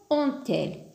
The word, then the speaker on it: ont-elles: Et là aussi, on n'a pas inséré le T de l'euphonie, le T au milieu, parce que on se termine déjà par un T. Donc, on a la prononciation ont-elles.